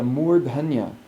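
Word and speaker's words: mūrdhanya: and we're at the murdhanya. Notice that I'm pronouncing that with a long oo and an aspirate dha, all in the dental position. So I'm not going dha, I'm going murdhanya.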